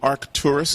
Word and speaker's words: Arcturus: There was a conspiracy saying that in the constellation of Arcturus or Arcturus, can you pronounce it for me? Yeah, it's actually Arcturus is the name of the star, right.